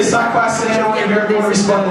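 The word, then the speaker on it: sak pase: And how you say it is "sac passe."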